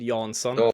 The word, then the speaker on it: Jansson: I mean, so open to whatever actually, but it's it's the a sound is really weird in Swedish. So, it would be like a Yansson.